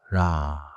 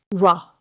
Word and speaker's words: 라: For this lesson keep real forward. Say ra with a quick front tap. Not an English R shape.